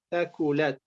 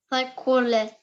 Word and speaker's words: ثقلت: Donc, tu l'as prononcé kaf. Donc, il faut pas dire taqulat. C'est pas taqulat. C'est taqou. Dis-le. Taqulat. Thaqulat.